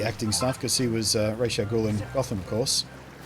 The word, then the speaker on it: Ra's al Ghul: Sorry, Ra's al Ghul, as they pronounce it in that show for some reason. Or actually, I think it depends on who you talk to.